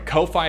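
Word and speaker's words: Ko-fi: subscribes via tastemade or kofi or twitch i'm sorry kofi is pronounced like coffee or no fee by the way kofi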